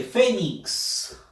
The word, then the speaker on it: fénix: Siguiente, fénix. Fénix. Fuerza de voz en la sílaba fe.